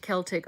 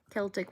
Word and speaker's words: Celtic: Celtic when talking about the people is pronounced Celtic. Oh, with a K sound. Oh, I see. Celtic with an S sound.